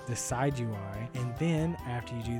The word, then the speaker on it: Decidueye: It's Decidueye, Decidueye.